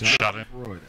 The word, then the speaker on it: Schadenfreude: How did you pronounce that word again? It's called Schadenfreude. Freude. It's Schadenfreude.